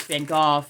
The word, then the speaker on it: Van Gogh: a lot and I try to call it Van Gogh because that was his name and I'm trying to pay him the respect of pronouncing his name properly so yes so of